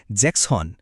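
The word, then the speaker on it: sechzehn: 6 মানে জ্যাক্স, কিন্তু 16 বলার সময় জ্যাক্সের শেষের এস অক্ষরটা বাদ গিয়ে হয়ে যায় জ্যাক্সহন।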